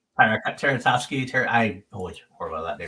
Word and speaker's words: Tartakovsky: You don't talk about Tchaikovsky? Tartakovsky.